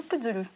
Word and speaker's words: Putzulu: le visage inattendu de la personnalité de Bruno Puzzoulou. Bonjour. Bonjour. Je crois que je l'ai mal prononcé, c'est pas Puzzoulou, c'est Puzzoulou.